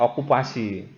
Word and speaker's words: okupasi: Misalkan saja okupati ya, bacanya okupasi.